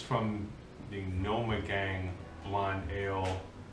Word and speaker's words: Gnomegang: Wait, it's from the Gnomegang blonde ale. It's a gnome sound.